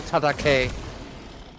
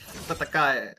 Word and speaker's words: Tatakai: They take a kill onto Tatake. Tatakai. Oh no. Tatakai. Is it Tatake or? Yeah, it's Tatakai.